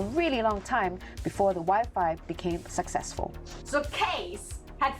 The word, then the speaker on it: Wi-Fi: up with the name Wi-Fi after its original name, Wireless Fidelity. It rhymes with high-five! High-five, Wi-Fi, high-five, Wi-Fi! In the Netherlands, you don't say Wi-Fi. We say Wifi.